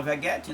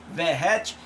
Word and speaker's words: Verratti: Claro que nós vimos o Verratti, que a gente chama Veguete, né? Mas a pronúncia é Verratti.